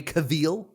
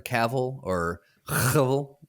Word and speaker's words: Cavill: It's with Henry Cavill, or Cavill, depending on how you want to pronounce it.